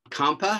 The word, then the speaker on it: Kampa: I see that Kampa, is that pronouncing your name correctly? Yeah, my name is Kampa, and I'm a